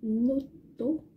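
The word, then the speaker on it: ノート: mot étranger du coup ça va se dire noto le petit trait entre nos le trait est le taux le petit train entre les deux fabricants accentuer la voyelle de la première syllabe vous intérêts notons ensuite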